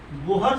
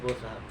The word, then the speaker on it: Bohr's: बोहर्स भी बहुत लोग पढ़ता है, हमको कंफर्टेबल फील नहीं होता है बोहर्स पढ़ने में, ठीक है। एच हम उच्चारण नहीं करते हैं, प्रोनाउंसिएशन नहीं करते हैं, बोर्स पढ़ते हैं, ठीक है।